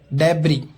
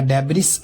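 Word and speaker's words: debris: डेब्री, मलबा, या डेब्रिस नहीं बोलेंगे, डेब्री।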